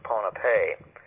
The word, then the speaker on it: Ponape: Archaeologists cannot define who made this tremendous achievement of the sea just off the northern end of another island called Ponap sometimes pronounced Ponapee and Nan Madal this